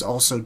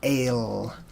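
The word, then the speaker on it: אל: And that symbolizes authority or leadership, sometimes also teacher. So together we have a word picture, and it's pronounced Al or Ale.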